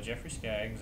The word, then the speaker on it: Jeffrey Skaggs: from first of all okay my name is jeffrey skaggs i'm from hickory north carolina i've been here